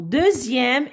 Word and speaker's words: deuxième: Alors, deuxième, X ici se prononce, se lit Z.